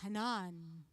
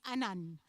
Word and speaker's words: Hanan: I mean, Hanan, if you here in Emirates, it's Hanan. If it's in US, it's Hanan. If it's in French, because we're very strong in pronouncing the H at the beginning, it's Anan.